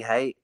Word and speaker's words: Haight: People pronounce it Haight. It's not Haight. It's Haight. I'm a lover, not a hater.